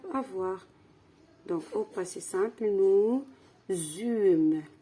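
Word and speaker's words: nous eûmes: du beau temps alors nous zum ça s'écrit comme ça le verbe c'est avant c'est le verbe avoir donc au passé simple nous zum la liaison nous zum ça s'écrit comme ça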